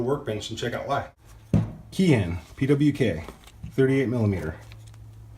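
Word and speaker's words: Keihin: and check out why kyun pwk 38 millimeter least I think it's key in I'm pronouncing that wrong someone will correct me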